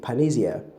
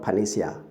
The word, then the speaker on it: panacea: We have panacea, PANACEE, panacea, not panacea, And then the next word is this, THIS.